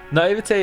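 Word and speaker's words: naiveté: Naivete is such a strange spelling. The sound at the end is an A.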